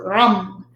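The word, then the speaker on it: Ram: but it's pronounced so you have to roll the r and then u-m-n-g that's how it's pronounced so rum the stones that heal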